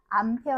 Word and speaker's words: 암페어: 이제 A 아고 쓰고 뭐라고 읽느냐 암페어 아고 읽죠 암페어 그다음에 이제 광도는 럭스를